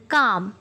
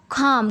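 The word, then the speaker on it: calm: अच्छा, next word है काम, या आप इसको खाम कह लें, खाम, यानी एल जो है यहाँ पे साइलेंट होगा, काम।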